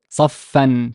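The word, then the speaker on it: صفًّا: But how would we pronounce it? Saf? Saffan. Perfect, perfect. Saffan. Saffan. The fa is doubled because it's a consonantal thing. The doubling of the sound, doubling of the fa is, two fa.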